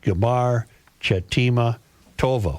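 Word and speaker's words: גמר חתימה טובה: Another traditional greeting is Gamar Chatima Tova, pronounced Gamar Chatima Tova.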